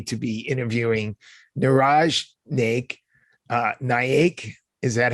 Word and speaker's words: Naik: Naik, is that how we pronounce it?